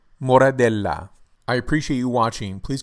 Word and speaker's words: Moradella: can be only classified as a table wine pronunciation of this wine grape variety is moradel moradel moradel I appreciate you watching please come back for